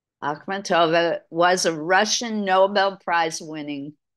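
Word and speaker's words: Akhmatova: the top her paintings are directly influenced by akova poetry I'm sorry no she's a poet Nobel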